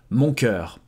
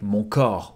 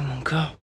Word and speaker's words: mon cœur: When he says it, sometimes his pronunciation is impeccable, but sometimes it sounds a bit more like mon corps, which actually means my body. Look at you, mon coeur.